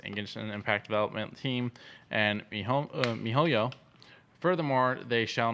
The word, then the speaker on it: miHoYo: MiHoYo. Oh, MiHoYo?